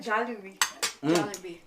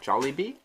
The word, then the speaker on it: Jollibee: jollibee there right how do you say that jelly bean no like kfc oh jolly bee maybe i haven't seen it i like it